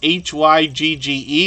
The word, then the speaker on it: hygge: good to see you in the house that's h-y-g-g-e it's pronounced hygge Homestead uh it's good to see